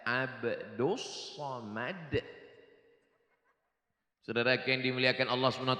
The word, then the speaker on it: Abdul Somad: Namanya Abdus Somad. Tulisannya Abdul Somad, tapi cara bacanya Abdus Somad.